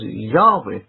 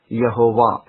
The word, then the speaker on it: Yahweh: all early Greek writers found the name to be pronounced as Yahweh, not Yehovah, at any point in history.